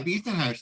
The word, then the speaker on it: Bisen-Hersh: I think, let me just read books and books about Beeson-Hirsch. Oh, that's lovely. Am I getting your name pronounced correctly? Yeah, Beeson-Hirsch. That was correct that time.